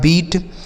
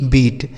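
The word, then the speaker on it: beat: ई ए टी हीट बी से हो जाएगा ब और इस इ ए का उच्चारण बड़ी ई की मात्रा टी से हो जाएगा ट लिखा है बीट बी इ ए टी बीट एस से हो गया दोस्तों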